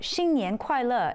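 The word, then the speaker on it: 新年快乐: That's Sunlin Fai Lok in Cantonese, or Xin Nian Kuai Le in Mandarin.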